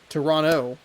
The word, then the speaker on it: Toronto: Matt Chapman's 10-year career with the Athletics, Toronto Toronto. You know, pronounce the second T.